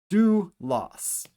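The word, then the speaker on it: δοῦλος: So this is our first syllable delta with the dip thong omocron hoopsilon which makes the ooh sound do. Our second syllable is loss. Two consonants, one vowel. Do loss.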